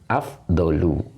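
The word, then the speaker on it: أفضل: Maka dibaca afdolu. Ya, ngikuti pola ini.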